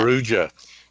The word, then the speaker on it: Perugia: Dad, do you want to pronounce that? Perugia.